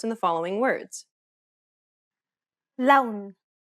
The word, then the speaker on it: لون: لون. أهلا. Unlike the English L, the tongue is ever so slightly flatter and straighter in Arabic.